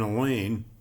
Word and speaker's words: Elaine: or any class an Elaine rhymes with pain the unteachables have been